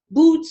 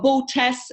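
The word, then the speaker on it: Boötes: So Andromeda, the planet where my essence originates, apparently is Boots, or Bootes, as we pronounce it in German.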